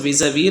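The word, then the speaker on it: vis-à-vis: Vis-a-vis, this is being pronounced as vis-a-vis, last s is silent.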